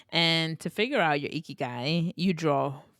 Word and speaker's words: ikigai: I have such, like, it's spelled Ikigai. It took me forever. Ikigai, right?